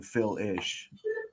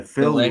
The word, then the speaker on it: Phil Lesh: It sounded like you're saying Phil-ish, not Lish. I don't know. My bad. Maybe you could say it. Yeah, Phil Lesh. Leash.